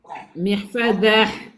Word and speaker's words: محفظة: محفظة. Non, C'est ça. محفظة. محفظة. Non, ta, ça y est, il n'y a pas ta, on ne prononce pas ta.